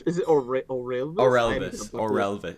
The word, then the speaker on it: Orelvis: Orelvis. It's like Elvis, but with an Orel before it.